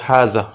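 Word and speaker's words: هذا: এখানে টান দিতে হবে, কিন্তু আসলে প্রকৃত শব্দের উচ্চারণে হায়ের পরে একটা আলিফ আছে, সেক্ষেত্রে আমাদেরকে এটা পড়তে হবে হাজা, যদিও লেখা আছে হাজা।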